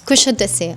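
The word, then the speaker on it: Kuşadası: Just like that, we finally arrive in Kusadasi. Ganun pala siya pagka-pronounce. Kusadasi.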